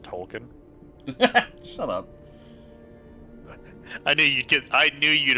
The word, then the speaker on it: Tolkien: Oh, token. Da-da-da. Okay. I believe it's pronounced Tolkien.